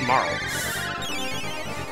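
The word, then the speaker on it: Marle: By the way, I looked up her name. It's pronounced Marl.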